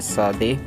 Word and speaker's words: Tsade: बढ़ते हैं हमारे 18th अल्फ़ाबेट की तरफ, जो कि प्रोनाउंस किया जाता है सादे या सादी। तो इसको जो है वो साउंड निकलता है स का। एक्चुअली जो इसमें टी है शुरुआत में वो सॉफ्टली पढ़ा जाता है।